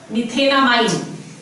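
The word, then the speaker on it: methanamine: Let's see, अगर हमारे पास है CH3 NH2, the root word over here meth, ane, e खा लिया, amine, methenamine. This is how you pronounce it, methenamine.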